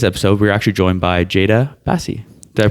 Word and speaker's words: Jada Basi: And on today's episode, we're actually joined by Jada Basi. Did I pronounce that right?